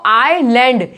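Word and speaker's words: island: Next देखो, आइलैंड, इसलैंड नहीं बोलते कोई लैंड, कुछ लोग इसको इसलैंड बोलते हैं या आइसलैंड बोलते हैं। नहीं, इसमें स की आवाज नहीं आएगी, एस की आवाज इसमें बिल्कुल नहीं आएगी, इसे बोलेंगे हम आइलैंड।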